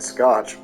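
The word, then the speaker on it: Schoch: is great soundtrack Joel almost sounds like Scotch uh his last name is spelled s c h o c h or s c h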